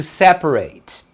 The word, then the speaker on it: separate: Separar é to separate. Isso aqui já está separado. Então separado é separate. Separate, tá vendo?